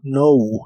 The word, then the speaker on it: know: Y usarás el verbo know, que significa saber o conocer. Cuando una palabra de inglés empieza con una K y una N, no se pronuncia la K de esa palabra, como en este caso, know.